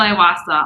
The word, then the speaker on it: Iwaasa: because i know i'll butcher it can you pronounce his last name for us i'm marshall iwasa on facebook on w-a-a-s-a i know it's a